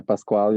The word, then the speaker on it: Pasquale: anybody else have questions for, am I saying your name right? Pascal? Yeah, Pasquale, yep. Okay, Yeah, it's a cool.